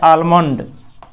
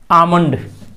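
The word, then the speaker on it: almond: आमंड मांग रहे हैं, लेकिन इसका असली उच्चारण एल यहाँ साइलेंट हो गया, आमंड, आमंड, आमंड, एल नहीं, आलमंड नहीं, जैसे आम जो है काम है उसी तरह से आम है, आमंड।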